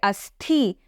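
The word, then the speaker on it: अस्थि: But if we put a mahapranatha and say asthi, then it means a bone.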